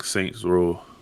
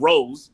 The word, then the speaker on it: Saints Row: got to learn how to say the game right before you start correcting people on 3 and the third. It's Yeah. Saints Row. Row. I know it's a row. It's not rows.